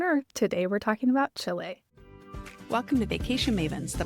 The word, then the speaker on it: Chile: So for everyone to know that's the name of the country, it's Chile. We're not talking about Chile food or anything like that.